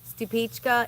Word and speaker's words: Stupice: It's pronounced Stupichka, even though it's spelled stupis.